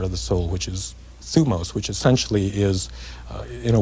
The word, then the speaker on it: thymos: Is it thymos? Thumos. Thumos. Yes. I knew I'd have it wrong.